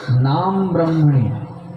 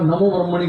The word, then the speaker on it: নাম ব্রহ্মণী: কি হলো মহাপ্রসাদে গোবিন্দে নাম ব্রহ্মণী অনেকের আবার নমো ব্রহ্মণী বলে নমো ব্রহ্মণী মানে স্পষ্ট উচ্চারণ কি নাম ব্রহ্মণী নাম ব্রহ্মণী মানে নাম